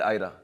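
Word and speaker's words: Ira: तो उसका short form है ईरा, but Reena wanted to pronounce it आयरा।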